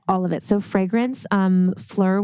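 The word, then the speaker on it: Phlur: So fragrance, Fleur, which is, I think that's how you say it, PHULR.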